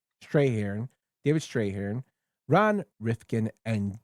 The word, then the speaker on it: Strathairn: I always get his name wrong. Strahan. Strahan.